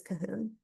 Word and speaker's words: Cahun: It's related to Cohn, and often is pronounced by English scholars as Cahun.